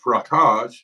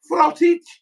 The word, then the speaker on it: frottage: From the French, of course, hence the pronunciation being frottage rather than frottage.